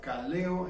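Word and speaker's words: καλέω: Les he comentado que la palabra llamar se pronuncia kaleo en griego, y la palabra iglesia se pronuncia eclesia, de iglesia, que viene de kaleo.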